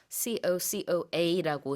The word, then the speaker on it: cocoa: COCOA라고 스펠링은 이렇게 하지만 영어로 발음할 때는 끝에 A 발음하지 않고요. 그냥 cocoa. Yeah, we just say cocoa.